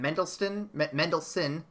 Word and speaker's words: Mendelsohn: Lashana Lynch, Annette Bening, Jude Law, Ben Mendelsohn, there's no T in there, what am I doing?